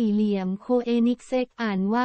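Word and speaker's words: Koenigsegg: ประเทศ ไทย กับ ไฮเปอร์คา เครื่อง หมาย สี่ เหลี่ยม โคเอนิกส์ อ่าน ว่า เธอ เน็กเซ็ก จาก สวีเดน หาย ใจ ไม่ ค่อย ทั่ว ท้อง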